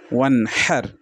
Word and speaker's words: وانحر: ফাসল্লি লি রব্বিকা ওয়ানহার। ওয়ানহার, হার পড়বেন না, ওয়ানহার পড়লে বড় হাইয়ের উচ্চারণ আসে, আর এখানে এটা বড় ধরনের মারাত্মক ভুল হয়ে যায়।